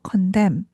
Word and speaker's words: condemn: 그래서 condem condemnation nation 그죠? N이 발음이 안 되죠.